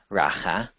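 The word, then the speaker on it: ῥακά: family rata which even that Greek word is pronounced raha the Greek 4469 kind of saying you empty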